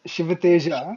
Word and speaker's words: Sivateja: All right, I know let's that get the J is silent in Spanish, I think, but in Indian, J is J.